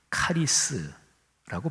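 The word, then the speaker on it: χάρις: 여기에서 헬라어로, 원어로 보면 은혜라는 헬라어는 카리스라고 발음해요.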